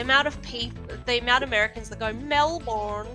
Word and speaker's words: Melbourne: Americans say it Glasgow. Glasgow. Well, it's like Melbourne. The amount of Americans that go Melbourne.